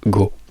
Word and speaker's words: go: by foreigners is that many people remove the u here in Italian you say go so remove the second sound you start well in